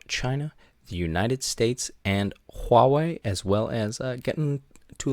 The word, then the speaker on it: Huawei: are going to be talking about Huawei that is the correct pronunciation by the way Huawei 5g the race for